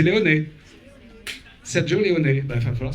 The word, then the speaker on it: Leone: Moi, j'ai toujours dit de Léon. Mais vous avez prononcé Léoné. Alors, comme vous avez un très bon accent italien, d'après ce que j'ai pu entendre, c'est Léoné.